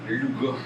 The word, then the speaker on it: Luga: Luga. Je savais pas que ça se prononçait Luga. Oui, mais ça s'écrit. C'est le umlaut. C'est un nom allemand.